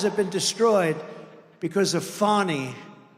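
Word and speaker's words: Fani: know how she get she should add a little u in there someplace if she wants people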